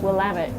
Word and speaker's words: Willamette: And how would you, for people unfamiliar with Willamette, well, Your first of all, pronunciation's perfect. Yeah, absolutely, absolutely. Well, I always remember it's Willamette, damn it.